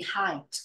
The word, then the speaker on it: height: a mistake in in height pronunciation she pronounce it like he no height it's like hi hello how are you today height you know height